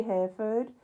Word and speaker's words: Hereford: To make sure I get off at Hereford, because that's where I'm going. I say Hereford, but you say it differently. But I say Hereford, because that's how you spell it.